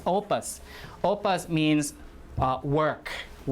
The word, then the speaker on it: opus: Opus, this is how it's pronounced. O, right, you see the underline here, which means stress. Opus.